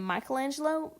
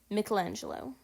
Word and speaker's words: Michelangelo: You may remember people calling him Michelangelo, but I believe the correct pronunciation is Michelangelo.